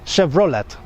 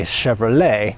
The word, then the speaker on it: Chevrolet: they don't say Chevrolet I don't think they know to put that French twist on the suffix of that word they pronounce it Chevrolet so if you are